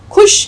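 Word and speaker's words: ख़ुश: खुश कोई लफ्ज़ नहीं होता, सही लफ्ज़ है खुश।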